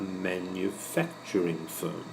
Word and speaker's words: manufacturing firm: The next one is a manufacturing firm. The stress is here, fac, manufacturing firm.